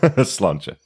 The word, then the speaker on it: Sláinte: Sláinte? No, bottoms up. Sláinte. That's how we pronounce it.